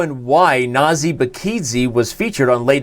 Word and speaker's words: Nazi: you pronounced it well it is Nazi not the other pronunciation of the same word the name actually means